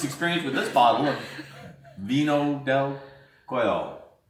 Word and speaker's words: vino: They don't pronounce V's here. Vino.